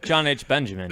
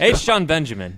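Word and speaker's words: H. Jon Benjamin: oh yeah that's John John H Benjamin is h john benjamin stop saying it wrong good what's an initial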